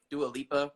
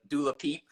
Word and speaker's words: Dua Lipa: Dua Lipa, or Dula Peep, as Wendy Williams calls her. I can't even pronounce her name.